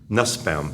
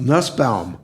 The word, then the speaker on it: Nusbaum: very important work how are how do you pronounce your last name again as Nussbaum Nussbaum I'm sorry because I wasn't quite sure about